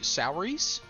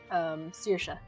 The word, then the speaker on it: Saoirse: S-O-U Souries? Saoirse. Oh, okay. Name I don't recognize. No, never mind. That's not how it's spelled.